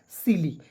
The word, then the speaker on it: silly: और मैंने बोला कि अंतिम में यदि आपको वाई दिखता है तो उसका उच्चारण बड़ी ई के रूप में करेंगे, हो जाएगा सिली, SILLY सिली।